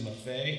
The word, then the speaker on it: Maffei: for 30 seconds um my last name is MAF that's the Italian pronunciation so uh according to